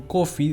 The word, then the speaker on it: Coffey: quién es john coffee estuve intentando encontrar la esencia de john coffee de quien tenemos bien en claro que su apellido se pronuncia como el café pero se escribe totalmente diferente en este vídeo intentaré